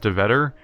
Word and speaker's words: Dhuyvetter: Reminds me of my friend that's like Swedish or something in heritage, so his last name's DeVetter, but it's like spelled like Dhuyvetter.